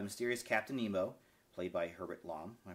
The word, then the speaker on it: Herbert Lom: aided by the mysterious Captain Nemo played by Herbert LOM am I pronounce right yeah Herbert LOM okay of the submarine Nautilus who in an